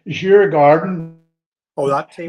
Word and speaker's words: Djurgården: Let me pronounce this right. Djurgården. Oh, that team. Not Djurgården.